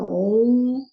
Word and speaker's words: Om: A gente, quando vai cantar esse mantra, a gente canta OM, mas para escrever ele se escreve A1, dos cânticos dos Vedas.